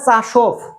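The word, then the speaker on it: часов: চাসব হচ্ছে কেন কেন ভের উচ্চারণ এফ এর মত হচ্ছে এটা হচ্ছে গ্রামারের রুলস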